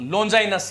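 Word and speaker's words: Longinus: बता दिया कैसी है और अंग्रेजी उच्चारण जो है इसका क्या है बोलो लोंगिनस है क्या है इनका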